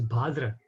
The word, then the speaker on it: Bhadra: But actually the correct pronunciation is Bhadra, because it's Bhadra Mas. So it's Bhadra, not Bhadra.